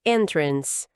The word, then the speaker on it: entrance: Entrada é entrance. Vamos ver a pronúncia. Devagar. Trance. A força da palavra tá no n, primeira sílaba.